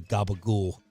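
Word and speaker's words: capicola: the deli section and I realized later why I couldn't find the Gaba goul cuz it's spelled cacola yeah yeah cacola so I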